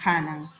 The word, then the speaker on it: Hanan: jurí bien apunte a con hache y se pronuncia hanan por los canas y decir como dijo hanán con h se pronuncia ja y por los curie